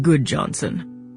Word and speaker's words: Gudjonsen: My name is Goodjohnson, spelled Gudjonsen, but pronounced Goodjohnson.